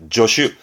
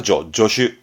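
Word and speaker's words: 助手: 이를 도와주는 조수 발음은 조슈. 얘는 발음이 조로 합니다. 조슈.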